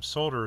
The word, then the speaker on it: solder: being one of them solder is really the correct way to say it because it's sold the words sold like I sold my car so I'll de are sold her not solder anyhow let's get off